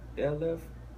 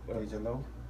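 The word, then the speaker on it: DeJ Loaf: Def Left. That's how you say her name? Def Left. Deja Loaf. Yeah, Deja Loaf.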